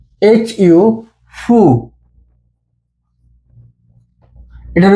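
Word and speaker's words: ふ: এইচ এ, হা। হা। এইচ আই, হি। এইচ ইউ, ফু। এটার উচ্চারণ হু হবে না, এটার উচ্চারণ হবে ফু।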